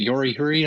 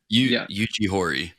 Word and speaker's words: Yuji Horii: And then also, was it Yori Huri, I think, of Dragon Quest? Yeah. Right. Yuji Horii. Yeah, Yuji Horii.